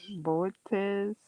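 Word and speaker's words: Boötes: Icarus and Boot, uh, Bootes, Bootes, but it got emphasis on the second O.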